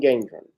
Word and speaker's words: Gendron: How do we pronounce his last name? Gendron? Peyton Gendron? Yes, Peyton Gendron, who shot and killed several people at a Tops grocery store out in Buffalo.